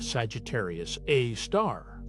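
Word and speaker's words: Sagittarius A*: The supermassive black hole at the center of our own Milky Way is called Sagittarius A, pronounced Sagittarius A star.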